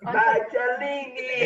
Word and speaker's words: Magelli: Magelli.